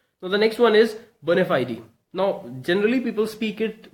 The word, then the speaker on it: bona fide: genuine I actually mean to say it is bona fide e okay so verna fiery Latin word meaning genuine and it should be pronounced in such a way bona fide e okay now if I talk about the examples